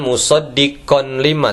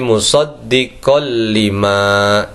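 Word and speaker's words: مُصَدِّقًا لِمَا: iniemu dengan lam musoddiqolima cara bacanya bukan musoddiqon lima tapi musoddiqol liima itu idgham bila gunna dibaca dengan tidak dengung selanjutnya yang ketiga wa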